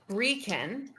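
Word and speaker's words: Brekeen: So Breeken. Oh, how do you spell that last name?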